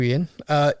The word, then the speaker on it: Iain: This one, now, I'm pretty sure this is Ian, but it's spelled Iain.